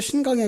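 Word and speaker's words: 新疆: 제가 중국에 있을 때 신강에 가봤어요. 신장이라고 말하거든요. 중국 발음으로는.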